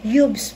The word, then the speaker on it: Huebsch: ng Facebook page niya yubs nahirapan din akong magpronounce dito pero yubs pala yung tamang pronunciation nito Tapos merong kapag bumili